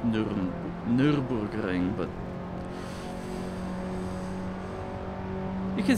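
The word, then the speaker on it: Nürburgring: first two laps of the Nuremberg ring actually it's pronounced Nurburgring but you can say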